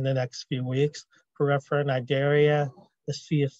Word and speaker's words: cnidaria: Porifera, cnidaria, the sea is silent.